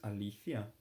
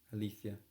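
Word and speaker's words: αλήθεια: what you hear um I I remember when I learned how to say really in Greek which is Alia so I just say Alia no I didn't i' say althia but then I um I Heard um some Greek girl when I was in Greece and she said Alia okay well I wouldn't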